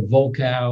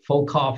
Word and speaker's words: Volkow: I'm going to talk about the opioid crisis, and you'll hear from Nora Volkow, or Volkoff, I think is how she actually properly pronounces her name, who's the director of NIDA.